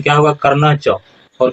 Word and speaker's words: कर्णश्च: तो उच्चारण कैसे होगा, भवान भीष्म च कर्णश्च, कर्णश्च उच्चारण नहीं होगा, उच्चारण क्या होगा कर्णच।